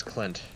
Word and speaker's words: Clint: No, that's Clint. Flint, of course. You can remember because his name rhymes with Flint.